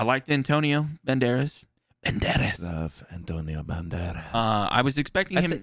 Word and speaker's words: Banderas: Love Antonio Banderas. I was expecting That's him. anytime anybody says his name, you have to say it like Banderas. Antonio Banderas.